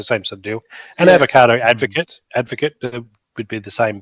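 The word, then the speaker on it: abogado: lawyer in Spanish is avocado. So every time I hear someone talk, it's actually spelt with a B, but B is pronounced like a V.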